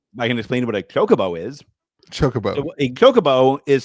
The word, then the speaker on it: Chocobo: It's pronounced Chocoo. That's why I've always pronounced it since I played the game as a Wii lad. I'm pretty sure on the video I pronounced it Chicobo.